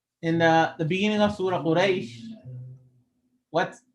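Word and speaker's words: قريش: So, for example, one of the most popular examples in the beginning of Surah Quraysh, what's correct? Li'ila fi Quraysh. There's an e sound. Quraysh. There's an e sound at the ending.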